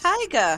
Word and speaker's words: taiga: The taiga. It's a evergreen forest. It's a It's pronounced taiga. it's pronounced tiger and it's coniferous forest.